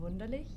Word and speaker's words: Wunderlich: It's Wunderlich, which is a little Spelled like it sounds.